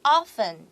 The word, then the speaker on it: often: 然后呢，在这边老师有特别提醒 O-F-T-N often 的读音要特别注意它的 T 是不发音的。